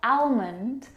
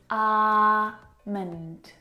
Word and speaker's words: almond: comfortable this afternoon amond now in this word the L is silent it's not almond or almond it's alond arond alond alond I'm going to make